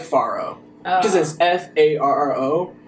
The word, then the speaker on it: Farro: told me before she was like you've been pronouncing the last thing wrong it's Pharaoh so every time I have to say the